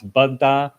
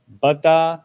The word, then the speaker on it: Baddha: And a quick warning: Baddha's name sounds very close to Buddha, so I'm going to try to pronounce Baddha just a little bit different than Buddha. So we've got Baddha and Buddha.